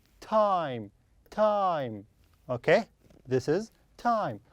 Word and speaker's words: Tim: It is Tim. Tim. The I here pronounced as E. Why? Because I don't have E here. There is no E like this. This we have E, so I pronounce I as I. But here I don't have E, so I pronounce as E.